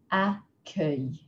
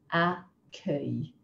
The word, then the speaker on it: accueil: We've got words like accueil, accueil, which means welcome, or the front desk in a hotel. G-U is pronounced like the g in go.